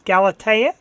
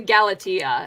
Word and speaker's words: Galatea: the last couple days galatea oh you're real close in fact i don't even know we're pronouncing it right to be quite honest it's uh we pronounced the galatia and that's galatians i asked siri had